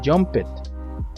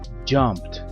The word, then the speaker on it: jumped: participio por lo tanto no se pronuncia jpet la letra e no suena y la letra d suena como una t junto con una p jumped verbo infinitivo to play